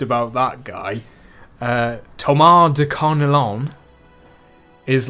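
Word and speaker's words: Carneillon: Thomas de Carnelian because I thought there was an I in the name after the L's. So in this video, I pronounced it Carnelian.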